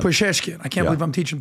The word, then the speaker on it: Pezeshkian: you're the new president, was it Pezeshkian? What do you say his name? The new president of Iran? Something like that. Pezeshkian.